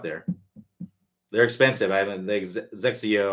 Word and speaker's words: XXIO: I haven't Zexio. I think that's how you pronounce it, Zexio, and it's XXIO is what it looks like.